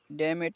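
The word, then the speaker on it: damn it: एम एन आई टी डेमेट यानी सत्यानाश इसमें एन साइलेंट रहता है है बी ओ डबल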